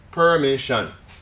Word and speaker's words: permission: don't so moving on permission permission where's the stress again the middle syllable permission okay this one becomes